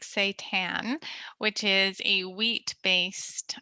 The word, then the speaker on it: seitan: you can get creative and try something like seitan which is a wheat based uh plant protein um so it's spelled s-e-i-t-a-n um and you can do all